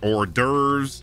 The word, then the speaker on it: hors d'oeuvres: There's plenty of words with a silent H. I mean, you got heiress, heirs, hourly, honestly, heirlooms, homage, hors d'oeuvres.